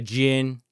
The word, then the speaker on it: Djinn: It's not Django. Right. It's exactly. Django and Djinn. And yep. Yeah. The D is silent.